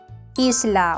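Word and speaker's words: isla: 그러니까 항상 홀라가 아닌 올라로 발음하는 거 잊지 마세요.이 이실라 어렵지 않았죠. 섬이라는 뜻이고 영어의 아일랜드랑도 비슷하게 생겼네요. 단 스페너는 철자 그대로 다 읽어 주면 됩니다.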